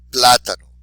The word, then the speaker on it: plátano: So even though it ends in a vowel, we're not going to say the second to last syllable. We're going to do it where the exception to the rule is.